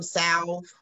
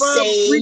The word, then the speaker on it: salve: It's called salve because Black people wouldn't pronounce the L. It's spelled A-L-V-E. And I'm Black and I ain't pronouncing the L. It's salve, baby. It ain't save and it ain't solve. We're going to put some ointment on it.